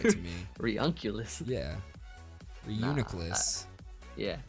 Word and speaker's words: Reuniclus: It's Reuniclus. Reuniclus. Okay. Yeah. Sweet. Like my front office is like Reunculus. I'm like, no, that doesn't sound right to me. Reunculus. Yeah. Reuniclus.